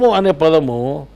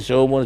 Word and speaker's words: Shivam: The Shivamu/Paramatma exists in the Dead body and today everyone mispronouncing that Shivam as Shavamu. This usage is a mistake. It's not Shavam. You supposed to call it as Shivam.